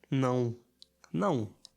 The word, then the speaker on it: não: It's like now, but you swallow the W, now, and make it nasal. No. Não. No. I think I feel it in my nose. Can you feel it? No. Não.